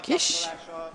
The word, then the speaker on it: Kis: Kish Kish it's not kiss I was told it's spelled kiss in English but uh it is actually pronounced Kish all right um so Mr Kish congratulations yeah and also